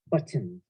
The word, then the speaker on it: buttons: You really pronounce those T's, buttons. Buttons, yeah. I say buttons. There's no T when I say it. I just say buttons.